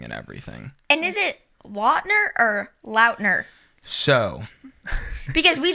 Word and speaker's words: Lautner: It is my fault that nobody knows how it's actually pronounced because I never corrected anybody No. for decades. No way. It is technically Lautner, What?